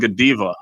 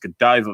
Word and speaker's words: Godiva: i i get that but you keep saying godeva and it's pronounced godiva michelle it's cadaver chocolates they're very good they're